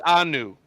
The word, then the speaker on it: Keanu: No, it's new. N-O-O, new. Oh, like I've been pronouncing it. Yeah. Keanu.